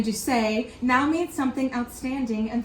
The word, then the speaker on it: Duse: Fun fact, Americans inadvertently coined the term doozy. The mispronunciation of the Italian Duse now means something outstanding and thoroughly unique.